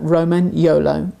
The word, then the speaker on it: Romagnolo: If you say Roman and then Yolo and put it together, Romagnolo, you have the correct pronunciation of the breed.